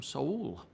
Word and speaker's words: Seoul: Greetings from Seoul. And that's how you pronounce it, Seoul, not Seoul.